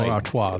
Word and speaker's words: Stella Artois: Bud Light also Anheuser-Busch owns Budweiser, Kona Brewing, Michelob Ultra, Stella Artois, Estrella, Busch, Natural Light. I'm not even pronouncing pronouncing some of these right. Stella Artois that is. Artois.